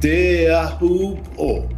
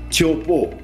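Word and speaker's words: Teahupoʻo: This is the correct name and the correct pronunciation, Teahupo, and not Chopo.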